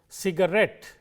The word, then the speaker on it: cigarette: Let us take words ending in ETTE, words like cassette or cigarette. In all these words, the stress is on the last syllable, cigarette, cassette and so on.